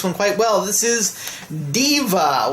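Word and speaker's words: Daiva: quite well this is Deva which I always thought was pronounced die Eva but it turns out it's pronounced Deva it is a space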